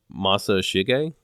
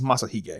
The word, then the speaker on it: Masashige: His name is Masashige. Is that how you say that? His name, the Inoue's name? Yeah, Inoue Masashige. I think it's Masahige, if I'm not mistaken. Oh, okay, so the S is silent.